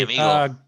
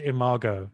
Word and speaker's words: Imago: And Hey, amigo, where are you going? I think it's well, pronounced Imago, actually.